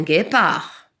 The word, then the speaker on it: guépard: le guépard guy pas pourquoi on a rajouté le u parce que le g devant le et cet engin est pour le prononcer gay je dois rajouter 1